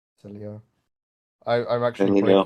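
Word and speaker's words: Sileo: Is how do you say Cilia? Is that the right pronunciation? Cilia.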